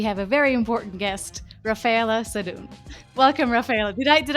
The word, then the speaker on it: Raffaella Sadun: and today we have a very important guest Rafaela sedun welcome Rafaela did I did I pronounce it correctly you pronounce it very well